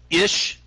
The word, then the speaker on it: Ish: really your name ish ish just happens to rhyme with fish um I actually shortened